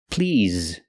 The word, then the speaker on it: please: table for two please the word is not pronounced please it's pronounced please using the ZZ sound with vibration like in the word zebra ZZ please not please but please a table for two please use the z sound so when you say